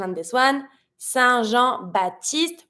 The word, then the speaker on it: Saint-Jean-Baptiste: Saint-Jean-Baptiste. We're not going to pronounce the P in Baptiste.